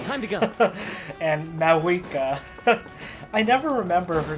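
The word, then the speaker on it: Mavuika: still throws me off that her name is MAA not like mava you don't pronounce the V I don't think okay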